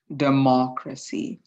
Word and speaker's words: democracy: here um it is democracy the main focus of the word or the main stress of the word goes within the second syllable so if it was